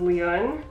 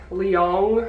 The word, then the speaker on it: Leon: given in China was Leon, which I like that name, it was fine. But I think the struggle was that people would pronounce it like Leong or Leun.